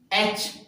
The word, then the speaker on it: etch: ठीक है, next example है फ्रेंड्स एच, ETCH, तो टी जो है इसमें साइलेंट रहता है, तो CH हमारा कॉन्सोनेंट यानी चे।